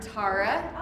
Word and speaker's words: Tara: And yes, it does rhyme with tiara. Tara, tiara.